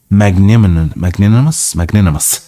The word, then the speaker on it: magnanimous: His Majesty, who is a most magnanimous. I think it's pronounced magnanimous. I'm not sure, so let's check it. Magnanimous. Magnanimous. Yeah, I was correct.